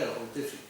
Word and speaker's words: Outhefëm: Entonces, realmente esto se lee tal cual se escribe en español. Está escrito Eutefin, pues Eutefin.